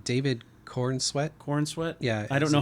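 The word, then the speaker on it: Corenswet: and uh what's his name David Corn sweat corn sweat I don't know how pronounce that yeah corn sweat wait hang on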